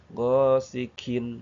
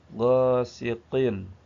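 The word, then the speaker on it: غاسق: Gosikin. Nah, kalau kita bacanya gosikin, nah itu jadi kaf. Makanya jangan jangan terlalu ke atas. Gosikin. Nah, gosikin. Jadi, kaf yang betul. Gosiqin. Gosiqin agak ke bawah.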